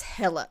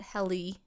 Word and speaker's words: Helle: It's spelled Helle, but the only reason why I pronounce it Hella is because this was actually the Forensic Files' very first episode. Hashtag 1996 throwback. 96 is when Kristen Homegirl disappeared. Anyway. Oh my. And that was the first Forensic Files episode? Mm-hmm. So this one was the first. So they pronounce it Hella. Some people pronounce it Helly because it's Helle. So I'm going to call her Hella.